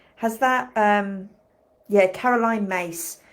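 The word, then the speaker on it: Myss: that um yeah Caroline mace so it's m y SS but it's spelled with like a c mace as in mace mace spray pepper spray yeah yeah self- sabotage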